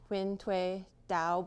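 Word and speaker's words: Huyen Dao: try to pronounce it it's something like wind way dow you know it's okay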